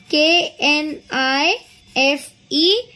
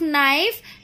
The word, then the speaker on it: knife: in the spelling of knife we spell it as we when we pronounce we pronounce it as knife but the spelling we write with start with k k is silent when we pronounce okay so k n